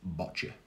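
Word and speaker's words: boccia: nhs and we've got bocce which rhymes with gotcha so if you want to know how to say a wheelchair balls you see a gotcha but with a b it's botcha so i'm going to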